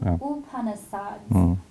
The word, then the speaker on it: Upanishads: rebuttal of the Chandogya We usually pronounce u, not you. Upanishads.